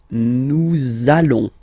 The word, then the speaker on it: nous allons: it does mean that you will have to pronounce this z sound, okay, listen to me, nous allons, nous allons.